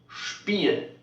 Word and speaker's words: Spiel: Then you know this word needs also be pronounced SCHP. Então aí você já sabe que ela tem que ter a mesma pronúncia de SHP. SCHP. Ou seja, da mesma forma que nós pronunciamos expression, aqui Beispiel. Vai só fazer esse som de chiado.